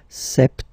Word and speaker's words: septembre: So, septembre, septembre, septembre. Remember this E-M en septembre. Br, br. You don't insist on the final E. Septembre, septembre.